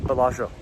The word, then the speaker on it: Bellagio: we're in the real bellagio right now so let's show people around the world the real colossians or uh a few people say pronounce it more in the italian way palacio yes we're in the